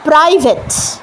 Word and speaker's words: private: প্রাই, পা রটা একসাথে আসছে, তার মধ্যিখানে কোনো সাউন্ড হবে না। সাউন্ড দিলেই সেটা প্রাই হয়ে যাচ্ছে, তা কিন্তু না, এটা হচ্ছে প্রাইভেট।